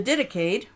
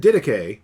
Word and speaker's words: Didache: And the word Didache, or it's fun to mispronounce it, Didache. Don't do that.